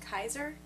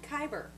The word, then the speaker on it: Kaiser: It's pronounced Kaiser? That's what I said. You said Kyber.